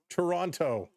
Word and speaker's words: Toronto: You don't pronounce the second T in Toronto. That's right. Toronto.